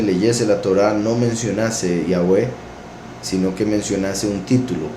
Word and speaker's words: Yahweh: El nombre Yahweh es el verdadero nombre, la verdadera pronunciación del nombre de nuestro Creador, el nombre que aparece